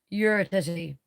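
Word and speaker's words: Uretiti: We also have you're a titty, and that is pronounced you're a titty.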